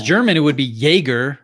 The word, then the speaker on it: Jaeger: But in reality, really, we should all actually be pronouncing it Jaeger. And so every time I say Jaeger le Coutre, I am sort of technically wrong. I mean, the guy was Swiss German, or certainly of German descent, and it would have